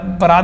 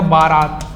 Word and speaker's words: बरात: बरात में आपको देगा बारात बारात हम लोग हमेशा उच्चारण करते हैं कि बारात लेकिन बारात बिल्कुल गलत है हम लोग क्या उच्चारण करते बरात ब रमय रा त बरात उसके बाद हम निपुर